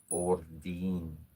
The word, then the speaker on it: Odin: She was trying to connect with Odin. I said, you're saying the name. I said this is how you pronounce the name. Ordine.